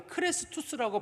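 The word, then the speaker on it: Chrestus: 뭐라고 기록을 했냐면 정확한 발음이 크레스투스라고 불려지는 사람 때문에 생긴 일이다 이렇게 돼 있어요.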